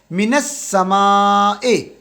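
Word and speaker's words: من السماء: अभी यहां पे तो ये मिन जो है ना मिन का नून डायरेक्ट जाके समा आसमान के साथ मिल जाएगा मिनस समाए मिनस समाए आ जाएगा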